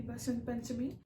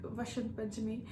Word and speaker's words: Basant Panchami: And happy Saraswati Puja to all, or you can say happy Basant Panchami. In our place, we say it Saraswati Puja, and most of the places in India they say it like Vasant Panchami.